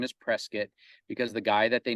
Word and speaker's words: Prescott: outside of the locals refer to it as Prescott Arizona but apparently you pronounce it Prescott um there's a long story behind that but apparently the correct pronunciation is Prescott because the guy that they named the community